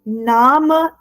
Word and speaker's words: Name: Ich bin is Mein Name ist. Mein Name ist. Now see, name is written exactly the same in German and in English, right? But pronunciation is different in German. We pronounce it as Name.